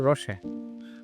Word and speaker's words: Roochay: How do you say, Roochay or Roochay? Roochay, yeah. Right. Yeah, I was trying to read it French. There are many pronunciations, but yeah.